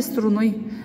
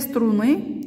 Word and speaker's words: струны: Две струны. Ударение падает на букву И.